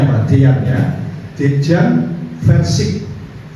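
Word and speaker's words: Verčič: Dejan Versik, ver pakai V, Versik, CIC, nah, ya, Versik, tetapi I-nya pakai, karena kayaknya nama-nama Yugoslavia, ya.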